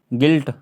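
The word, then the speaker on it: guilt: हम इधर जो है गिल्ट गिल्ट गिल्ट गिल्ट गिल्ट इसके आगे देख लो यहां पर ये भी साइलेंट हो गया अभी है ना इधर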